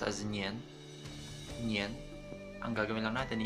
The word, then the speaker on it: 年: Years nila is pronounced as nian.